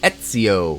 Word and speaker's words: Ezio: This is the Revelations of Ezio. Yes, I pronounced it right this time.